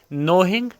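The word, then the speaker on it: knowing: हर दिन ठीक है नोंग जानते हुए यहां पर के साइलेंट है डायरेक्ट इसको नो कहना नोंग जानते हुए दैट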